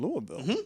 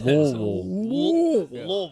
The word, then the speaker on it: Louisville: Louisville. One syllable. Louisville. Maybe 2.